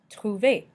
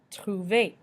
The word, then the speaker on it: trouver: E with an accent aigu and ET make the sound A in English. A. Déca means decaf, as in decaf coffee. Déca. Trouver means found in English. Trouver.